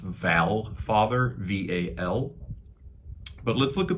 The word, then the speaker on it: Valfather: it might be pronounced Valfather, V-A-L. But let's look at this word Val, V-A-L, or Vol, if it would be. I think that's the more close real pronunciation from Old Norse, Volfather.